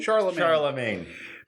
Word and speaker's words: Charlemagne: Charmelage? Charlemagne? Charlemagne.